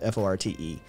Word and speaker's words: forte: of thing was not my fort it's actually pronounced fort f-o-r-t-e um british pronunciation f-r-t-e meaning strong suit or